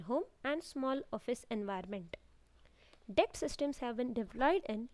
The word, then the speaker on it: DECT: WLAN DECT system, Digital Enhanced Cordless Telecommunication Systems, pronounced as DECT.